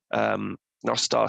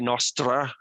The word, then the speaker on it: Nostr: Well, I pronounce it Nostar because Nostar is Welsh for good night, so I like that. Other people call it Nostra. Some of the Central Americans call it Nostra, but that's wrong.